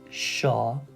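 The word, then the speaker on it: شانه: So this one will be shane. You don't need to pause really too much. We don't say it's shane. It's not like that. If you want to pronounce it quickly, just a slight emphasis on the N sound.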